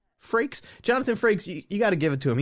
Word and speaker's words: Frakes: Is it Frakes? Frakes. Is that how you pronounce it? It's like rakes, but with an F. Frakes.